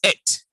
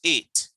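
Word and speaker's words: ate: Teeth, and the word is et. A-T-E is et, not eight, et.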